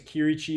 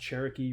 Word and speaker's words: Chierici: like they came up my last name's key Ricci but it's mispronounced Cherokee frequently so like a Cherokee Cherokee Jeep you know like whatever